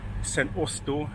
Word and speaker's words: St Austell: That's where I got the train to St. Oel. That's how you pronounce it.